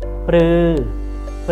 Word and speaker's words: ฤ: consonant before a vowel it will be pronounced as รื อ รื อ For example รื อ